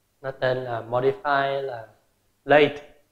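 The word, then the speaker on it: Lathe: Nó tên là modify là late. Phát âm giống như là late của đi trễ vậy á. Phát âm như nhau, chỉ là thêm cái âm thờ ở phía sau thôi.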